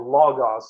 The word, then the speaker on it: Logos: What that says, what John actually wrote is, in the beginning was the Logos, or Logos, if you want to pronounce Greek right.